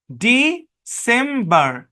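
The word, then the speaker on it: December: সি এর পরে ই থাকলে সি এর উচ্চারণ দন্ত স্বরের মতো হয়, আপনারা জানেন। মাল্টিসিলেবিক ওয়ার্ডে ই এর লং সাউন্ড আই এর শর্ট সাউন্ডে কনভার্ট হয়, সেটাও জানেন। তাহলে ডি সেম্বার, ডিসেম্বর, ডিসেম্বর, হ্যাঁ। আর ব্রিটিশ ইংলিশে আরটাকে সাইলেন্ট রাখা হয়, তখন উচ্চারণ করা হয় ডিসেম্বর, ডিসেম্বর, বা নো আর।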